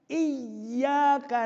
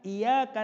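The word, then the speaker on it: إِيَّاكَ: Maka kita harus mengalunkan iyyaka na'budu. Jangan iyyaka na'budu wa iyyaka nasta'in. Kalau iyyaka, hanya kepadamu ya Allah hamba menyembah.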